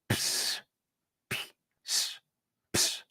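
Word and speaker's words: ψ: But in order to pronounce it correctly, you need to realize that it is this letter, the P, together with the sigma. So it sounds ps, ps, ps.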